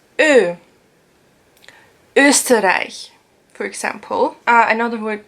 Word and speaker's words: Ö: So you know O, and you put the two dots above it, and it's Ö.